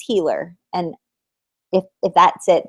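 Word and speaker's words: Keira Heiler: said it right Kira it's not heler I'm so sorry it's not Kira heler it's Kira hiler I believe unless it's healer and if if that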